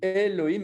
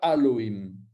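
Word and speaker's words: אֱלֹהִים: Ben voilà, donc vous avez, eh bien, c'est ces points-là qui vont faire qu'on dit Elohim et pas Aloïm.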